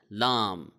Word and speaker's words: Laam: So Laam is similar to and the English alphabet L. So L A A M Laam. It is somewhat similar, but it is not exactly L, because in the pronunciation of the letter L there is a kind of a twist, but in the letter Laam there is no twist.